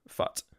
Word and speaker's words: FUT: was pointing out that it definitely is pronounced fut like like cut or Hut which makes sense but I have to say that I've always had it foot because first of all